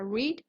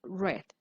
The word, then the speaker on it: read: En presente se pronuncia read, en pasado se pronuncia read.